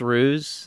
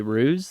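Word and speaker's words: Hruz: But, you know, yes, my name is Ruse. That's H R U Z Ruse. The H is silent.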